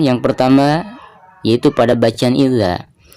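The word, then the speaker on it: إِذَا: Baik, perhatikan yang pertama yaitu pada bacaan idza. Idza di sini dihukumi mad tabi'i karena ada harakat fathah berhadapan dengan alif. Jadi dibacanya dua harakat.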